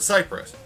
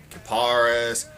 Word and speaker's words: Kiparis: way to say say it it's called The Cyprus like the tree I've heard a lot of other ways though karus KIIS caparis take your pick it's a pronunciation to me